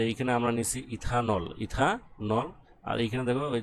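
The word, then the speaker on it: ethanal: aldehyde ইথাইলডিহাইড ইথাইলহাইড বা ইথানেল অ্যালডিহাইডের শেষে কি উচ্চারণ করা হয় নেল তোমরা ইথাইলডিহাইডও বলতে পারো আর ইথানেলও বলতে পারো কি বলতে পারো ইথান নেল বলতে পারো ঠিক আছে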